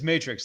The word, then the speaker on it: Matrixx: I don't I hate getting No, it's it's Matrix. Like the movie Two X's way cooler.